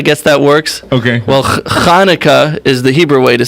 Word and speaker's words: Chanukah: the CH is the right way to spell it, but many people have trouble pronouncing that, so they just use the Hanukkah. Okay. Oh, okay. But in But Hebrew it would be... in Hebrew, it's a Chanukah.